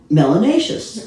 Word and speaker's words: melanacious: Melanacious. Melanacious. Rhymes with gracious and spacious and efficacious.